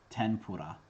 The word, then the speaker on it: tempura: pronounce with an n the japanese n is not equivalent to n but rather a nasal sound it's pronounced differently depending on what kind of sound comes next when n is followed by a labial consonant it assimilates to an m that is the answer